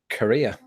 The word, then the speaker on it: Korea: to be a big wrestling fan never mind pronounce Korea Korea similar to the word Korea as in a